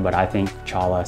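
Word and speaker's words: cholla: area including the Troya cactus garden apparently it's pronounced choya but I think Chala sounds better the choya cactus are some of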